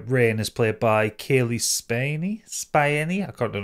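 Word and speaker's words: Spaeny: So the main character, Rain, is played by Kaylee Spiney. Spiney? I can't know how to pronounce her surname.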